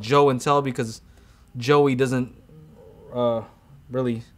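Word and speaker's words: Joe N Tell: My channel is obviously called Joe and Tell because Joey doesn't really sound as good as Joe and Tell, so it rhymes with show and tell.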